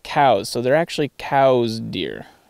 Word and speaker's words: Coues: And then, weirdly enough, apparently Elliot Coues' name should be pronounced cows.